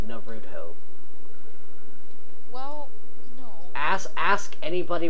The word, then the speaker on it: Naruto: how it this pronounced it is pronounced Naruto well no ask ask